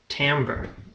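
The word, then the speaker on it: timbre: to talk about is called tamber even though it's spelled like Timber don't ask me I don't know maybe it's French or something but it's the reason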